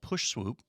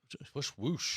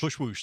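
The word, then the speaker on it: Pushwoosh: Is there was a app service called Push Swoop, or Swoop Whoosh. Push Whoosh. Push Whoosh. There we go. I got the name wrong.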